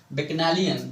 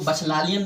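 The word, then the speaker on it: bacchanalian: Next statement है आपका डस बैक्नालियन। इसको बचलालियन नहीं पढ़ेंगे, उसको इसका लेंगे प्रोनाउंसिएशन।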